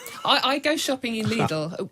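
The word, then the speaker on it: Lidl: i go shopping in needle needle is how you pronounce it illegal is how you pronounce it it's like a needle but with my waitrose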